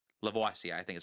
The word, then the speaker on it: Lavoisier: I don't know how to pronounce that last name. Lavoisier. Lavoisier, I think is how you pronounce it.